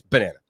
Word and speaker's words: Banana: was looking online, and I know that we pronounce it banana, but I believe it's ba-nana. Yeah. Right? In other words, like, because the nana is like almost a separate word in their logo.